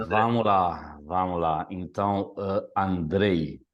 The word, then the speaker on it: Andrej: lá vamos lá então Andrei Andrei é o correto aquele J no final tem som de i em esloveno né mas então você